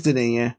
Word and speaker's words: Denis: I always call him Dennis V. Is it Denis? It's Denis. Yeah, he's French.